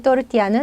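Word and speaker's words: tortilla: 제 발음 그대로 그음 또띠야 또띠야음 자 여러분 멕시코 음식장 가시면 또띠야 이제 많이 드시죠 저 이제 스페인 스타일 또르띠아 또 다릅니다 자 먹어보지 않으신 분들인지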